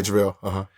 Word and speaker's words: JaVale: So I guess there was a card game between JaVale McGee. Am I pronouncing his name? Yeah, JaVale.